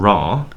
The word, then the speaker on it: Ra: because in the hieroglyphs, Ra is usually spelled out with the one consonant sign R, and the one consonant sign the ayin, which is pronounced as a short R sound in English. So I think as it is actually written in the hieroglyphs, I think that might be closer to the Egyptian.